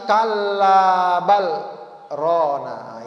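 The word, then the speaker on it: كلا بل ران: maka Allah katakan lagi Kalla bal ra ini cara bacanya Ada apa namanya nya sakta jadi sakta itu apa Berhenti sejenak tanpa napas ya macanya Kal ya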